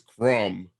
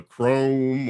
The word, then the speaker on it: Crom: here but i mean most people know me as crum the grave some people still don't know how to pronounce it okay some people say uh chrome or croom or something uh chrome the great